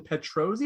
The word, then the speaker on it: Petrozzi: pronouncing your name correctly is it tara gillan petrozzi or petrozzi petrosi you had to write